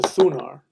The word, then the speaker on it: Thunar: When I first did a ritual to Thunar, which is the Germanic pronunciation of Thor, which is the same as Indra.